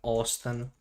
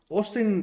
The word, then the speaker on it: Austin: Austin is the state capital of Texas. Okay. Oh yeah. It's pronounced with a T.